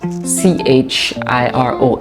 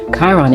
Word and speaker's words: Chiron: Chiron, Chiron, pronounced Kai, Kairon. Chiron is in Aries right now, collectively, right?